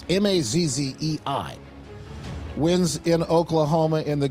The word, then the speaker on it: Mazzei: Trump backed Mike Mazzei, I think his name is, or Mazzy, or Mazzy. I don't know how to pronounce the last name. It's Mazzei.